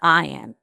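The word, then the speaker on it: Ian: Now, his name is Ion, spelled I A N but pronounced I O N.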